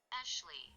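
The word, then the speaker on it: Aesleigh: Ashley. Okay, yeah, okay, yeah. Google Translate pronounces it as Ashley, but that's a weird way to spell it.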